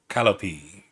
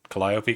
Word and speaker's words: Collopy: Alen, Ankx, and Calope that Collopy. Collopy. There it is.